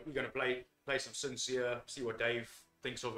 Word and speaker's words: Sin Seer: uh sincere is spelt as an s-i-n-s-w-e-r sincere like the i like the play on that name yeah are you being